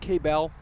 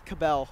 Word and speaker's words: Cabell: is it pronounced K-Bell? It's Cabell. Cabell. Yes.